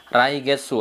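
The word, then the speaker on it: 来月: kanji bulan getsu itu jadi bacanya bukan Cool tapi raigetsu artinya bulanan datang atau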